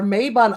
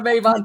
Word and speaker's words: Mabon: was the one that was that leveraged our Mabon argument that persists to this day of the use of the word Mabon, which that's my word. I hate it. You're not a Mabon person. No, it's Mabon for one.